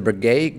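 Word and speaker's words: Breguet: insane number three on the list is the Brigade Grand complication Marie Antoinette priced at 30 million dollars did I mispronounce that whole thing no that's all all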